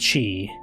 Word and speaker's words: chi: also have a few others X Chi it's pronounced Chi and that also perhaps could refer to xerus